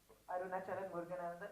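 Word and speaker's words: Arunachalam Muruganantham: Arunachalam Muruganandan.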